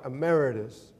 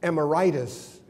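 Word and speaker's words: emeritus: for reminding me of the proper way to pronounce my title that's Rabbi ameritus you see when I first received that title I mispronounced it I thought it was emitis and that I had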